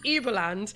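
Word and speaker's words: Überland: way of pronouncing it the U is like German oh okay but it doesn't sound as fun but yeah uberland so which is that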